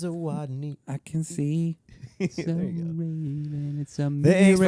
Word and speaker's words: Zawodni: It's Zawodni.